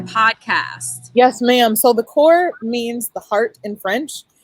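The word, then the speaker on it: coeur: spelling of your podcast yes ma'am so the core means the heart in french it's spelled g-h-e the and then core c-o-e-u-r you'll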